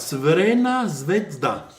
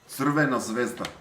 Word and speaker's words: Crvena Zvezda: Crvena Zvezda. Crvena Zvezda.